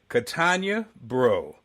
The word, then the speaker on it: Katonya Breaux: My guest today, Katonya Breaux.